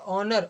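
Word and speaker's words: honour: एक और देखते हैं क्या ऑनर पढ़ेंगे क्या नहीं इसको हम क्या पढ़ेंगे ओनर ओनर मिस क्या होता है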